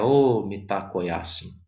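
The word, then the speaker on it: Mitákuye Oyás'iŋ: Esse Omitakuye Yasin, que na verdade se pronuncia Omitakuye Yasin, né? A pronúncia correta é O Mitakoyasin.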